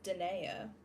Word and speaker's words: Dnea: It is Dnea. And that is why my channel is DneaDesigns. I know, seeing the 4 letters, it's not always super easy to assume how it is pronounced.